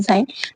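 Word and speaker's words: sign: चिन्ह होता है लेकिन साइन पढ़ते हम साइन है लेकिन इस स्पेलिंग क्या है इसकी बिल्कुल डिफरेंट है एस आई जी एन साइन next है नेट नेट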